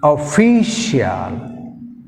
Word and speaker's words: official: Next official, official, official. So fee second syllable, shall first syllable.